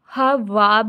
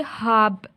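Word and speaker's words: ख़्वाब: तो इसको जब हम पढ़ेंगे ना, तो इसको हम वाब नहीं पढ़ेंगे, इसको हम पढ़ेंगे हाब, यानी वाव को हम साइलेंट कर लेंगे।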